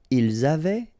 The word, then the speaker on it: avaient: Ils avaient, so look here, E-N-T, you write them, you don't pronounce them. So you get phonetically avait, exactly the same thing that we had here, here, and here.